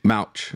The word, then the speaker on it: Mouch: But Cody, how you pronounce this? M-A-U-C-H. Mouch. Sounds like Mouch or Mouch.